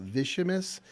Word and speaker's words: Vicimus: next phase of our company's sales growth let's pronounce it properly once and for all vicious like it s every time it is and